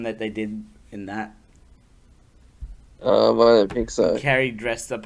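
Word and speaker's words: Iaido: Oh, Ido.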